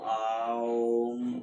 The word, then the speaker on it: ओम: कैसे प्रोनाउंसिएशन करना था, उच्चारण ओम नहीं होता है, आओ ओ आओम।